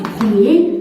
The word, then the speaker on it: premier: Des mots comme par exemple premier, dernier, bon, dernier. Ces mots aussi, on dit ici, R ne se prononce pas.